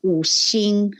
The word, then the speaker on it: Wu Xing: in Mandarin or in Chinese, it's called the Wu Xing. And in English, it's loosely translated phonetically to a word called Wu Xing.